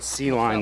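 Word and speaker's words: Kline: be like a hotline C line that also sounds like flying they spell it k-l-i-n-e my springtrouted about 350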